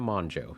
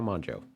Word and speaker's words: Mongeau: to pronounce it and i think it's tana tana manjo yeah tana monjo all right so jake